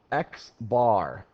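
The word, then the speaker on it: x̄: So sample data, the mean is often referred to, actually it's always referred to as X bar. That's how you say it.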